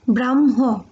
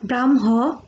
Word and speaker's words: ব্রহ্ম: আমরা ব্রাহ্মণ বলি, তো ব্রাহ্ম, তো ব্রাহ্মর ক্ষেত্রে দেখো এখানে হচ্ছে আমরা ব্রাহ্ম না, এটা হবে ব্রহ্ম। তো ব্রহ্ম উচ্চারণটা আমরা ব্রহ্ম বলি, এখানে ব্রাহ্মণ না, এখানে উচ্চারণটা ব্রহ্ম দেওয়া আছে।